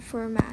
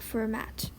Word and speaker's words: Fermat: so surprisingly you don't you don't pronounce the T when you pronounce this mathematician's name it's called forat not format okay so moving on